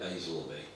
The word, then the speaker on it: Aislaby: One is spelt Aisleby, which is Scandinavian in origin, Aisalby. The locals, Aislaby it is spelt, locals all call it Aisleby. They reverse the A and the L.